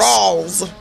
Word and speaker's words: Rawls: Wait a minute, you said Rawls or Ross? Rawls. Like Lou Rawls?